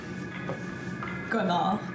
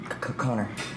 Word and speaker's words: Connor: Connard. C'est parce que ton nom... Your name means sparkly stupid in French. Well, actually, it's pronounced Connor.